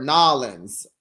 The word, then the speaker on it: New Orleans: It's New Orleans or Nolans, Letitia. That's how we pronounce it.